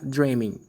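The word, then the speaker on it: dreaming: man i love dream lembrando que o g ele é mudo tá bom então fica aí lá dramin eu vou falar mesma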